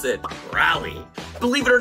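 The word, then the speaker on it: Raleigh: the capital of North Carolina is but we pronounce it rally Believe It or Not North Carolina is the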